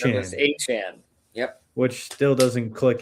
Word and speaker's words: Etienne: It's not Travis Etienne anymore, it's Travis Etienne. Travis Etienne.